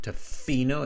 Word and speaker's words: Tofino: uh hanan i think tofino is spelled with one f yeah tofino not two f's not tofino it's tofino like that you're right maybe